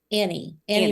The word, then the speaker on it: Annie: Is it Anne or Annie? Annie Mare. Okay, Mare. So you're wrong on both parts.